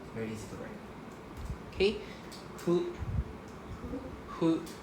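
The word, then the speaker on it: ふ: Hu. Hu. Right? Hu is just 1, 2. Very easy. Right? This is pronounced as hu.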